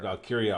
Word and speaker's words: Valkyria: Lyra it's Lyra but valkyria always like I think the combination just throws me off but it's all good